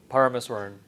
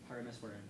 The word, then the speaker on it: Parameswaran: Parameswaran. Parameswaran.